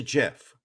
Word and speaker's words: GIF: gif i have to admit everyone says it's pronounced jeff but it is a jiff um so he passed away uh keith martin